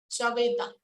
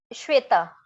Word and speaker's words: श्वेता: आपका एग्जैक्टली क्या है प्रोनाउंसिएशन नाम का? श्वेता, श्वेता।